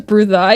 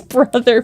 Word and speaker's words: Brutha: Brother, but with the British accent.